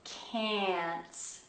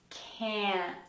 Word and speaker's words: can't: But in standard British English, open and long, can't.